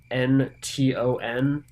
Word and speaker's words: Brinton: And for anyone who might be curious, it's not actually spelled Britain. It's Brinton. So Brinton is probably the proper pronunciation, but I'm probably not going to be able to stick to that.